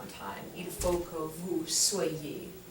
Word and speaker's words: soyez: So anywai, so the different forms of être are pronounced soit, and then soit, same pronunciation, soyons, soyez, and then soit again, soit.